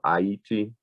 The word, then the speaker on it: Haiti: places of things like Haiti or Haiti, as it's probably more properly pronounced, and in places like New Orleans in Louisiana.